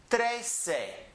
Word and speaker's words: trece: dossei those are easy ones then we have trace a trace a those are the easiest ones run